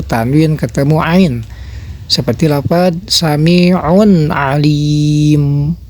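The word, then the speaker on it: سميع عليم: Seperti apa sami'un Alim Nah itu juga sama jangan ada dengung jangan seperti begini Bacanya saminta jangan ada dengung seperti itu atau jangan ada pantulan jangan seperti begini Ya sami Nah itu cara baca izhar nah perbedaan antara nun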